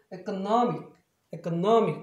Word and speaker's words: economic: 그래서 발음이 아까 명사할 때 economy였는데 형용사 하게 되면 economic 이렇게 바뀌어요. 또 다른 예를 들면 이것도 마찬가지죠.